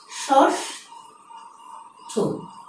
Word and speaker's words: ষষ্ঠ: আরেকটি শব্দ লেখা আছে, শব্দটি নির্ণয় করে দেখাচ্ছি, ষষ্ঠ। অর্থাৎ ব্যবহার হয়েছে প্রদত্ত শব্দে মূর্ধন্য ষ, কিন্তু উচ্চারণ নির্ণয় আমাকে দেখাতে হয়েছে তালব্য ষ।